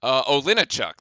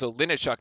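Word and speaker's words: Olejniczak: Olinichuk. There we go. I had to look at the pronunciation guide to actually make sure I got that one right. That was Olinichuk there with the block, and Trey Jones's inbounds pass is deflected.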